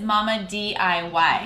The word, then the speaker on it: Mamma DIY: Yeah, I think of it as Mama DIY. Yes, is that what you meant? Yes, that's the real pronunciation.